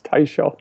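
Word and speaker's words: Teicholz: for 10 years and I realized last week that I mispronounce her name but it's tyz uh I probably said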